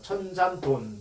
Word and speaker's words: 천산돈: 왜 조인배 같은 이렇게 얘기하냐면 이게 천산둔이라는 것이 원칙적으로 이거 돈이라고 읽어야 돼요. 근데 이것이 이제 변해가지고 둔이라고 읽더라고요. 천산돈.